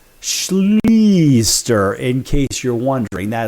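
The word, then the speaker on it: Schlichter: And his surname is pronounced Schleaster, in case you're wondering.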